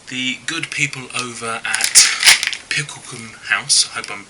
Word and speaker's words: Picklecoombe House: good people over at picklum house I hope I'm pronouncing that right I'll say it again pickle Kum house if that helps who I understand are